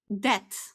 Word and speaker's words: debt: So, we say debt. One, debt. Two, debts. Okay? No depths. There is no b here.